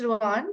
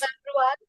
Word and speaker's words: Rouen: I was in Neoma Business Rouen, so it for 4 months.